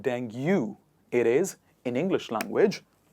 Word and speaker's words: dengue: let's say a mosquito it is not dengue it is dengue as you say it correctly in english language next one is data